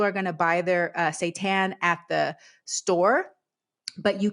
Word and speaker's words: seitan: The first one is called seitan. Seitan, not Satan, seitan. So that's spelled Seitan.